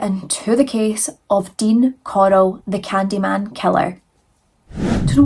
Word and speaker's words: Corll: so Dean Arnold Coral I'm going to have to say his name like Coral because Coral as Scottish people we can't do it right so Coral he was